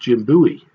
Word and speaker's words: Bowie: and indeed life legend Jim Bowie sometimes pronounced Jim Bowie and he also wanted